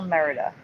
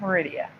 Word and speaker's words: Merida: jenzy you're okay breathe it's still Merida it is still Merida it's not Meridia I've never seen this